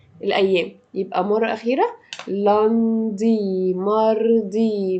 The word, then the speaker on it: mardi: لاندي ماردي، ماردي كل حروفها واضحة.